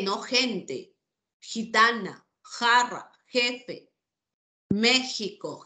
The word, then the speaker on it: México: gente jitana jarra jefe México Jimena Javier se escribe con x pero suena J la k lo mismo